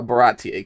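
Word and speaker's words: Baratie: old when I when I realized that it's pronounced uh baratti cuz the whole time I was calling it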